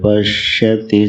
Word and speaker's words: पश्यति: प्रायः तीनों सकारों के उच्चारण का भेद नहीं होता है। थोड़ा अभ्यास करना। एक दंत सा है, एक तालव्य सा है और एक मूर्धन्य सा है। तालव्य सा का उच्चारण होता है स, नहीं, दंत सा का उच्चारण होता है स। तालव्य सा का उच्चारण होता है श और मूर्धन्य स का उच्चारण होता है श। जिह्वा के गति पर ध्यान देने से यह उच्चारण शुद्ध हो जाता है।